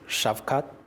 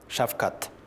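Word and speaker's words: Shavkat: name of the president his first name is shafkat shafka shafkat yep his last name is mirzi yoif yes difficult sometimes for americans to get a hold of that tell us a little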